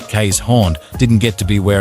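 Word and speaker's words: Keeshond: the Dutch barge dog the Kon pronounced K's horn didn't get to be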